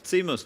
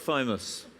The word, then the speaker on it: Timus: Timus. Timus. Timus, not Thymus.